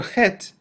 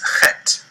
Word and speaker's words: heth: The letter Chet has a pronunciation that might best be likened to the CH in the Scottish word loch, as in Loch Ness or Loch Lomond, or like the CH